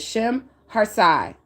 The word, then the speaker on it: Shemhazai: And how you spell that is how you say that, pronounce that is Shemhartsai.